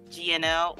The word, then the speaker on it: GNL: magazine um yeah but the gnl is pronounced like janelle which stands for geeky nerdy ladies so i'm okay with uh gnl or janelle either is fine which you know that's